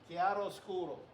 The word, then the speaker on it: chiaroscuro: Chiaroscuro.